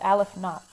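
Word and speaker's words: aleph-naught: But it's pronounced Aleph not.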